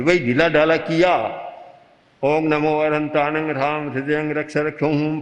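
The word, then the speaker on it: णमो अरहंताणं: इसीलिए जप के लिए भी उच्चारण का बड़ा महत्व है। अब बोलेगा नमो अनंताणं नमो सिद्धाणं नमो आयर्याणं, कोई ज्यादा शक्ति नहीं बनेगी, शक्ति का चक्र नहीं बनेगा।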